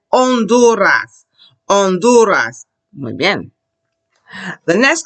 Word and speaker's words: Honduras: look at it, we don't ever say it. We say the sound that is after it, which is, I say the O. I say Honduras.